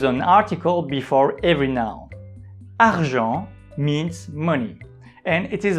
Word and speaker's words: argent: Argent. Argent. As you have noticed, we don't pronounce the letter T at the end of this word.